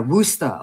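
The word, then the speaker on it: Worcester: freezing cold right yeah wusta okay because I was saying it wrong and I've been corrected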